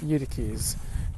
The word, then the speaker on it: Eutyches: His name was Eutyches, rhymes with you the keys. Eutyches taught that when his divine nature and human nature were united, they formed one new nature.